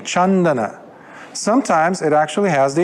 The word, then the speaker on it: Candana: to pronounce the C the C in P it's a cha like my name chandana sometimes it actually has